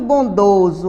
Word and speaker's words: bondoso: um velho índio muito bondoso Olha a palavra bondoso escrita com s e com som de z e querido pelo seu